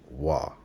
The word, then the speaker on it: waw: So we have the BDB saying that this consonant is pronounced wa.